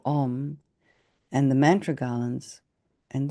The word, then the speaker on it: Om: And on top of that appears a white syllable Om, O-Om, O-M.